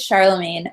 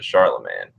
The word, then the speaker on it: Charlemagne: But in English, it kind of turned into Charlemagne.